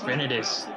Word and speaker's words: rhinitis: It's rhinitis. Get it right.